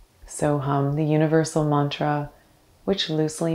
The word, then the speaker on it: So Hum: the mantra so hum the first syllable is so s o the second hum h-u-m soham the universal mantra which